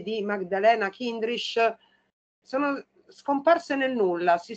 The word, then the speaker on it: Chindris: Maddalena Cindrish, giusta la pronuncia Igor? Cindrish.